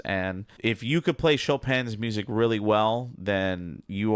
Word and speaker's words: Chopin: Not Chopin, you know, a lot of people would pronounce his name, so Frédéric Chopin. A little bit about Chopin.